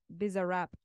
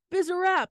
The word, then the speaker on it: Bizarrap: It's pronounced Bizarrap. Bizarrap.